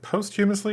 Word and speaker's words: posthumously: Is it posthumously or posthumously? Posthumously. Okay, that's what I thought. Posthumously. I mispronounced that.